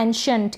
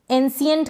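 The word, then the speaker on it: ancient: एंशंट मतलब प्राचीन, एंशियंट करके ना पढ़ें इसको, एंशियंट पढ़ दें, सौ पढ़ दें नहीं, श पढ़ेंगे, ठीक है।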